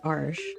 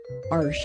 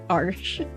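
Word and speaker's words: Arches: made for watercolor paper my favorite is Arch arsh I I learned how to pronounce that arsh so that's my favorite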